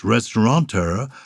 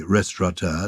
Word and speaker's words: restaurateur: why it is that the word restorator is pronounced ristoranteur when there is no n in the word itself well I have to say I say restaurateur not restaurant but our friend Jeremy comes from